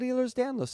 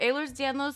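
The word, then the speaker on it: Ehlers-Danlos: have aer's danow syndrome Casey's pronouncing it wrong every time he it up but that's okay it's um aer's danow syndrome you can just call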